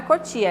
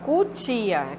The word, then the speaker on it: cutia: do outro o né como Cotia Cotia no caso não é Cotia é Cutia com o né cabeçalho com lh